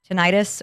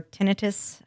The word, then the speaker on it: tinnitus: Houston has very bad tinnitus or tinnitus, however you pronounce it on your side of the world, wherever you're from. I think it's like tomato. I think they're both right.